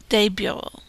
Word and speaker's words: bureaux: The X is silent. Un bureau, des bureaux.